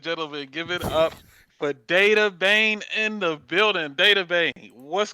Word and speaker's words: Dattebane: So the actual pronunciation of my gamer tag is Dattebane.